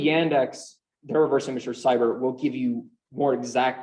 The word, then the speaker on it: Sibir: They developed a specific AI a few years back called Cyber, SIBIR, like Siberia, which is, it's actually how it's spelled, you can look this up.